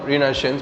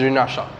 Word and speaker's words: Renaissance: this chapter is renaissance which is also some people call renaissance but the real pronunciation of this world is renaissance the phenomenon that mark